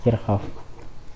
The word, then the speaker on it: Kirchhoff: Hukum Kirchoff dari pengorbanannya Hai tulisannya Kirchoff Tapi bacanya verhoeven kircoff nah pada hukum Kirchoff ya Hai gimana Hukum